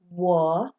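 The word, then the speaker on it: 我: UO is always pronounced wo. That is the word for I or me in Chinese. Wo.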